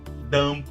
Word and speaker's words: dumb: Geralmente, as palavras que terminam com B, esse B não é pronunciado, tá? Como no caso de numb, que é entorpecido, come, pente, dumb, bobo, lamb, cordeiro.